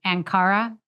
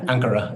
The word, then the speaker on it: Ankara: through Bodrum oh down to and I'm gonna pronounce it wrong anara yeah Ankara yeah an okay and then kind of around